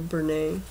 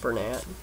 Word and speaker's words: Bernat: And this is a Bernay, or some people pronounce it Bernat, book.